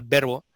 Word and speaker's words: VRBO: Pero la verdad es que cuando pensamos en una marca global Verbo, primero en Estados Unidos ya era, había mucha gente que lo llamaba así, ¿no?